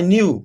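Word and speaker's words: knew: में W silent है आई न्यू के साइलेंट है दैट आई वांटेड टू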